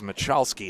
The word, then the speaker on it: Michalski: the way one correction Nicholas machowski is the correct way to pronounce that name that was a great